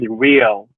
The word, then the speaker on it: Ryo: I don't want to pronounce it incorrectly, but RYO. How are you? Yes, sir. My name is Rio.